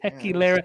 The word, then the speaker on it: Tequilera: When you had too much tequila, that's how you pronounce it. Tequilera.